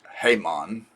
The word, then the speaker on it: Haemon: A m an so where they got hyon don't know do not have a clue and the ae in the name would be an i sound technically but I guess you can pronounce it hmon I mean who cares